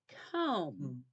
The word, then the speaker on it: comb: in the word Mouse MB represents the M sound at the end like in the word comb okay the B is